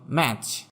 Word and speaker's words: match: Silent T, যেমন ম্যাচ, MATCH, এখানে টিটা উচ্চারণ হবে না।